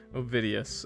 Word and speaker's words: Ovidius: I'm not gonna go through a whole game again and say a character's name wrong. That's how I say it. Say it. Okay. Okay, we're good. OVIDIUS.